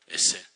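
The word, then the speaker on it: עזר: 요거를 히브리 말로 에셀이라고 발음을 해요. 에셀.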